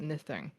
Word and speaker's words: Nithing: I'm gonna pronounce it Nithing. Nithing. Yeah, short I.